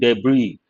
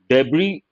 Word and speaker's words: debris: huge rocks here the letter s c silent debris debris part of speech noun scattered pieces of rubbish